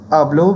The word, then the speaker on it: hablo: Words ending in a vowel in Spanish are stressed on the penultimate syllable. So penultimate syllable means next to last syllable.